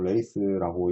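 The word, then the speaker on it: lathe: 어, 영어로 정확하게는 뭐 레이스라고 읽습니다.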